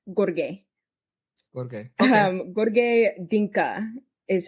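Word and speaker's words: Gheorghe: name of it's it's it's spelled kind of like George but it's pronounced Gorge gor um Gorge Dinka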